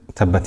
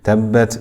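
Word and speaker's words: تَبَّتْ: You'll notice on tabbat, we pronounce the ta. Ta has the sifat of hams and shidda. So we will continue the breath slightly, but the sound will not continue.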